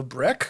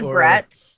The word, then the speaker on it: Breck: to be like uh breck the most common is brett oh yeah and i